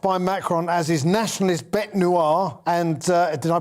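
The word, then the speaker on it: bête noire: he was cast by macron as his nationalist bet noir and uh did i pronounce that correctly perfect perfect thank you very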